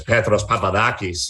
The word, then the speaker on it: Petros Papadakis: like peter peterson yeah and you're not supposed to say it like i say it but i don't want to sound like this overly pretentious and introduce myself as petros papadakis you know because that's